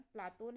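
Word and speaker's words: Πλάτων: ठीक, यूनानी उच्चारण प्लातोन है, गुरु मल्ल ने रखा था। इनके एक गुरु तो सुकरात थे, आप सभी को पता होगा, और एक गुरु थे मल्ल। मल्ल ने इनका नाम प्लातोन रखा था, जो यूनानी उच्चारण था।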